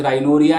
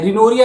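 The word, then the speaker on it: rhinorrhea: आप उसे राइनोरिया या रिनोरिया भी कई लोग प्रोनाउंस करते हैं, राइनोरिया रिनोरिया कह सकते हैं।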